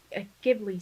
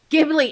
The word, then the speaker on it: Ghibli: giblets. Ghibli.